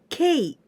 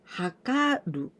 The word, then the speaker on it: 計: This kanji we pronounce kei. K, or in kunyomi, hakaru or hakarimasu. It means to measure.